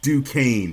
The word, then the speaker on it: Duquesne: It's Duquesne, brother. Duquesne. I should have known that from hearing Tone this whole time. My bad. Duquesne. I forgot the S is silent.